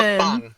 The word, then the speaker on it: mukbang: Mukbang. It's pronounced mukbang.